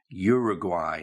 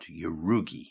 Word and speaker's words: Uruguay: pronunciation you got the right country but the pronunciation is Uruguay not urugi okay so if you haven't seen the word